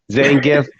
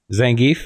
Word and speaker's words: Zangief: The latest move I saw him do, the little hurricane Zangief backspin, like that was insane. That's how you say that, though? That's how you say that? Zangief? What? Zangief? Yeah. Zangief?